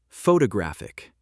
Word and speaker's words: photographic: Photographic. Stress moved to third syllable.